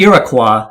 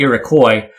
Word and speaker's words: Iroquois: So the French called them the Iroquois, and then in English it kind of changed to Iroquois.